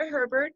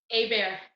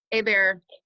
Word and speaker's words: Hebert: I said it wrong hey bear hey bear let's keep going sorry hey bear explain that it's French French you know pronounce the H and you don't pronounce the final consonant oh sure so how